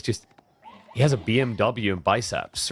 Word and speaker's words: BMW: I feel like how is it pronounced BMW or BMV? Because in German with the alphabet, it's not pronounced W, it's V. Oh yeah, we call it BMV.